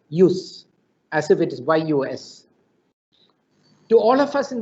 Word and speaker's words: jus: justice comes from the word j-u-s-j-u-s which is pronounced as you know as use use as if it is yus to all of us in the legal profession